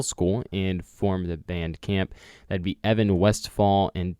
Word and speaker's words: Caamp: It is Caamp, spelled with one extra A, Caamp, Caamp.